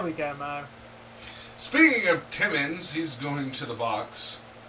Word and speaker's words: Timmins: of you has felt timmins's name wrong tonight ins not ons it's Timmins not timons yeah every single person